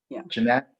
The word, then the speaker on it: Janet: And Janet Veras, is that a correct pronunciation? I think she goes Jeanette. Jeanette, okay.